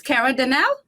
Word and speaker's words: Kerra Denel: know you all know i'm not good at pronouncing names so she got to fix this but it's kara danelle yes look at you i get it good